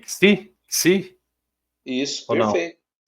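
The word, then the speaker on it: ξῖ: É, quando a gente quiser pronunciar o xi, é táxi. É só lembrar da palavra táxi.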